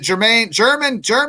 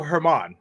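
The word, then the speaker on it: Germán: your initial thoughts on, or is it German last night? It's Domingo Herman. Herman is pronounced.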